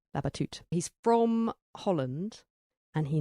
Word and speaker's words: Labatut: an author whose name I found out you pronounce not Benjamin labateude but Benjamin babatut he's from Holland and